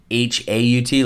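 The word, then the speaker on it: hout: his name and the H oh you tease actually pronounced H aut like Haut so I'm gonna butcher it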